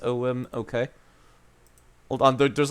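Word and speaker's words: Ogham: stones the writing was called orgam or ogum pronounced om okay hold on there's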